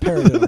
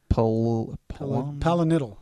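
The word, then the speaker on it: pilonidal: It's not paradiddle, bro. Nobody was drumming my ass. All right. How you spell it? Pillow diddle. I think pillow. You saw that. What P was brought up there? P-I-L-L-O-D-I. Oh, there you go. Palinidal. That's it. Palinidal cyst. I'm just going to say paradiddle.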